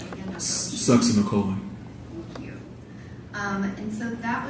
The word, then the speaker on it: succinylcholine: And how do you pronounce that again? Succinylcholine.